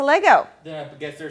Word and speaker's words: Lego: Wait, Lego is both singular and plural. In fact, 98.3% of the people on planet Earth say it incorrectly by adding an S to Lego.